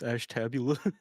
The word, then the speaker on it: Ashtabula: We If you also said like Ashtabula, the- it's like, no, it's Ashtabula.